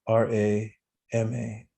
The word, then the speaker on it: rama: your mind the mantra rama is two syllables r-a-m-a rama and take five breaths inhales